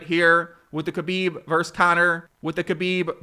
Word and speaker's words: Khabib: very heavy favored towards khabib or Habiba as some people have told me the K is silent and I think this situation and the way khabib is handle this with